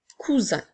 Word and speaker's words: cousin: mot nous avons un cousin le mot 1 s'écrit un ensuite nous avons encore une fois la lettre S est encerclée de voyelles donc c'est pour ça qu'elle fait le son attention le mot cousin